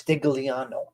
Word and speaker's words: Stigliano: You're part of La Familia di Stigliano because in Italian, the G is silent. Yes, it's Stigliano.